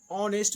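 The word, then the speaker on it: honest: स्पष्ट रहा कि आवर में आ आएगा तो ऑनेस्ट में ऑ से का प्रोनाउंसिएशन करना है, ऑनेस्ट, हम लोग ऑनेस्ट ऑनेस्ट ये सब ऑनेस्ट।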